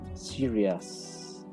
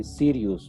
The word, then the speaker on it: serious: Serious. Serious. Please don't say serious, because if you say serious, it's like the Harry Potter. Okay, Sirius Black. It's not idea. Okay, it's serious. Serious.